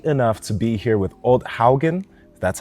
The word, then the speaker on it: Odd Haugen: and I'm lucky enough to be here with old Haugen that's how you say it correctly yeah well